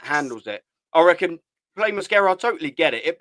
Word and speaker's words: Mosquera: Is that how I pronounce his name, by the way? Mosquera. Yeah, Mosquera.